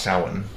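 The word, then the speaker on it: Samhain: Usp um cups, the covenant of yuyu pagans is having a it's called it's pronounced sin.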